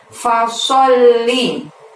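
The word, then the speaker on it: فصل: Pada ayat yang kedua ada lafaz fasolli. Sok di sana menghadap lam tasydid, maka pada saat mengucapkan sol ditahan, ditekan, baru bunyi li. Li-nya pendek ya.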